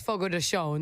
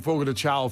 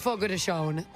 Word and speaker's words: Fogo de Chão: Portuguese, it's Brazilian, it's Fogo de Chão. That's how you say that. See, I was saying Fogo de Chão for like ever. No, it's Fogo de Chão. Fun fact, that's how you say it.